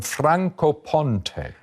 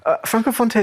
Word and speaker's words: Francofonte: From, am I pronouncing this? And from Francofonte.